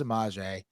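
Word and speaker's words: Semaj: it's spelled s e m AJ and it's pronounced samj and I do that Billy Billy Donovan would say samage samage and somebody at one point corrected him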